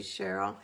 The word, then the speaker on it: Cheryl: Cheryl, I spelled your name wrong, but I was not supposed to say Shirley. It's supposed to be Cheryl.